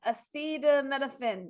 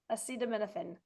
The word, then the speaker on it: acetaminophen: Acida menophen. Menophen. You have something in common with the president. You can't pronounce that word. Minophen. Acetaminophen.